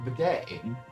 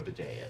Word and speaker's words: bidet: Bozo says it's like a bidet.